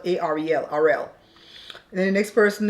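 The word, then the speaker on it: Arel: He says his name is Ariel, but it's spelled A-R-E-L, Ariel.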